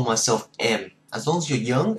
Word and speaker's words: em: male she's already she's female I call myself M as long as you're young it's very easy you just say M again it's spelled e m units like M we hit